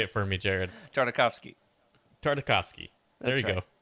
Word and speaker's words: Tartakovsky: with like the Clone Wars and especially Genndy Tartakovsky. Oh man, I'll never say his name right. Okay. You can say it for me, Jared. Tartakovsky.